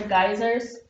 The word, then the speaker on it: geyser: National Park these are geysers another way to pronounce this word is Geezer it's according to my